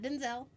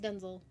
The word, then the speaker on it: Denzel: the room Denzel Washington that is how you pronounce his name is not Denzel he won't correct you but that literally his name is pronounced Denzel we have like a whole conversation about it